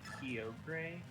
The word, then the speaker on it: Kyogre: riko riku right right do you say kyogre yogurt who the says keogray people actually do say kyogre like seriously i i've